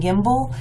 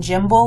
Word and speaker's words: gimble: For example, if the G's in here, these two words on the second line, are pronounced hard, gyre and gimble, then it's alliterative with brillig, borogoves, and outgrabe. But if they were pronounced with the soft G, gyre and gimble, like J, then they would not be the same sound.